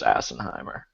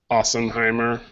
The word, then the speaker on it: Assenheimer: Don't follow Nick Camino, Jensen Lewis, or Chris Assenheimer. Just quick, off the cuff. Excuse me, it's Ossenheimer. It's Ossenheimer? It's No. Assenhat? It's spelled Assenheimer, but it's pronounced Ossenheimer.